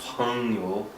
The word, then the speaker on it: 朋友: And that G is not so hard. Like Zhongguan, you really pronounce that G. Zhongguan. But in 朋友, it's like this G is kind of silent. You're just saying 朋. It's like a nasalized. Yes. 朋友. Like like a nasalized sound.